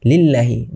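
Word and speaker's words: لِلَّهِ: যেমন আরেকটা উদাহরণ যদি দেই যে লিল্লাহি লামের নিচে কিন্তু জের আছে। তো ওখানে আমরা অবশ্যই পাতলা করে পড়তে হবে আল্লাহটা।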